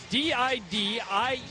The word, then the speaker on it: Didier: D-I-D-I-E-R.